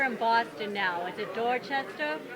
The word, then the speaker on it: Dorchester: you get you're in Boston now is it door chest how do you say it yeah Dorchester Boston and I came over here and um